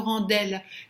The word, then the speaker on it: rend-elle: Et nous rend-elle plus humain, pas nous rend-elle. Quand il y a un D à la fin d'un mot qui est juste devant une voyelle, on prononce comme un T.